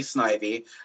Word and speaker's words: Snivy: Um, believe me, uh, the way the Pokemon names are pronounced is a big point of contention around the Pokemon community. So, say it however you say it, but um, from the anime and everything like that would be Snivy.